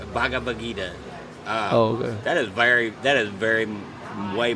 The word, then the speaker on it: Bhagavad Gita: Do you know how to pronounce it? Bhagavad Gita. Bhagavad Gita.